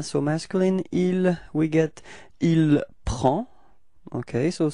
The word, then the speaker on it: il prend: Il and elle, so masculine, il, we get il prend. Okay, so same pronunciation, final D is not pronounced, so it's only the P-R-E-N, prend.